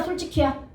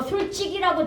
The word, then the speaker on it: 솔직히: 근데 문제는 우리가 발음을 잘 못 한다는게 문제야. 솔직히 솔직히 솔직히 어씨 잘하네 맞죠 솔직히 근데 어른들은 뭐라고 발음해 무식적으로 솔직이라고 되게 발음 많이 합니다.